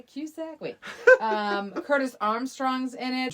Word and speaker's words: Cusack: 1985, John Cusack. Is that how you pronounce that?